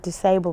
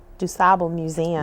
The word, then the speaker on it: DuSable: We just know that from the late 1940s, early 1950s, when DuSable High School was opened, that people were committed to the idea that it never be pronounced disabled because then people would